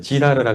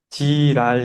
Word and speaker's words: Girard: 좀 발음을 잘해야 될 것 같아요. 지라르라 그래가지고요. 조금 이렇게 지랄 이렇게 또 될 수 있어서.